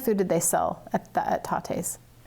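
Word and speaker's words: Tatte: And it says, I love you a latte. Tate.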